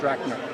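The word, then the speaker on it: Rakner: name is r a k n e r pronounced rner yeah okay that's it great thank you very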